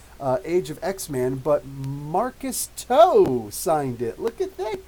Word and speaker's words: To: of X-Man, but Marcus Toe signed it. Look at that, guys. Come on now. Marcus Toe. And yes, I spoke with him, and his name is actually Toe.